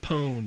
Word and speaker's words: pwned: I think it's spelled with a P, but you don't actually pronounce it.